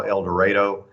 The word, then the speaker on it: El Dorado: It's we call it in Arkansas El Dorado. It's a little bit different than the normal pronunciation of it, but a great community that has a lot of natural resources.